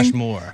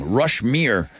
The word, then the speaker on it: Rushmere: Not Rushmore. I know. When you were saying it this morning, I thought, are you reading that right? Or are you just pronouncing it weird? That's the name of the song, Rushmere.